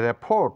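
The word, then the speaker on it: rapport: নয় এটা বলবো ডেইবু ডেইবু মানে উদয় এখানে রেফোট নয় এটা বলবো রেফো রেফো মানে সম্পর্ক আরো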